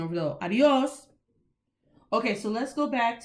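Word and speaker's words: adiós: an accent mark over that's why we say adios or the stresses of o not adios or ah dios that's different that means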